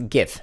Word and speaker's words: GIF: by the way in case you're wondering it's pronounced a gift not jiff it's not peanut butter also you don't pronounce